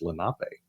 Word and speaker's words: Lenape: I Just thought like a lot of people mispronounce the Lenape tribe of the Indians that live Lenape. along the creeks here. Yeah. But it's Lenape.